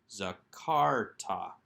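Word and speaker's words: זְכַרְתָּ: schwa under the rash zakarta again with that accent on the second syllable let's move on to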